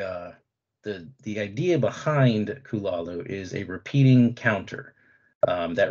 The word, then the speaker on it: Cthulhu: if you're wondering about my pronunciation of kulalu or some people may say cthulhu um there are actually